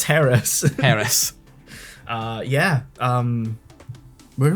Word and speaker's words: Harris: pronunciation in the dub they kept calling her like Ellis and but then like when you got her name revealed it said Harris that's Harris and I was like